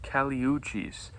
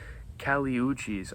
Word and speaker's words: Kali Uchis: I believe she's from Colombia, so her name is actually pronounced Kali Uchis, I believe.